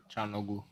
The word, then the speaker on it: Çalhanoğlu: Çalhanoğlu.